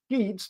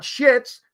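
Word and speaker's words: Sheetz: she was at Sheets let me pronounce that again sheets not shits sheets okay two e Convenience Store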